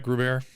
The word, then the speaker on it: Groubert: going to love Groubert." So am I saying it right, Groubert? Again, only the Germans say the U. Groubert. The Jews, it's silent for the Jewish people.